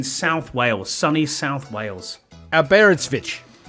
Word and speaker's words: Aberystwyth: Aberystwyth. Aberystwyth. Oh, not far. Aberystwyth. Aberystwyth. It's called Aberystwyth. So it's just like it's spelled.